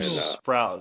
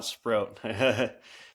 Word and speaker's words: Sprout: Sprout, not Sprro.